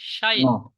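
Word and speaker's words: 社員: তার সঙ্গে ন, কি উচ্চারণ হবে? ন। শাইন।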